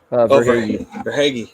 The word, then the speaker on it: Verhaeghe: Is that how you pronounce? Verhaeghe.